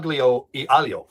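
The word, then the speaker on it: aglio e olio: after today's ali alio al aglio e alio that's exactly how you say it I've got a copy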